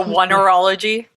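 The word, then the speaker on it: oneirology: It looks like oneurology. Oneurology is exactly it.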